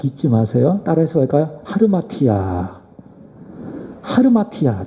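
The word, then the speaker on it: ἁμαρτία: 하르마티아. 하르마티아, 좀 발음하기가 어렵죠? 하말티아 또는 하르마티아, 이것을 헬라어로 죄라고 이야기하는데, 이것은 어떤 의미인가 하면 관역을 벗어나다, 그것이 바로 하말티아, 하르마티아라고 하는 의미입니다.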